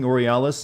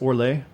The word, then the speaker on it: Orlais: the the additional french word that i'm butchering orealis is pronounced orlais don't they pronounce it orialis in this game though your worship for what